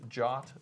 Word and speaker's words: JWT: And are you pronouncing that JOT, like J-O-T? J-O-T is the pronunciation of JWT. Exactly. Right, yeah, that's the official. It even says it in the spec.